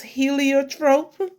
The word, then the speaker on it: heliotrope: going to try and I got the correct pronunciation of this word it's heliotrope and it's in the purple family uh there